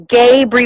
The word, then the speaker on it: Gabri: star hey tell them my name is gabri with a long a can you hook me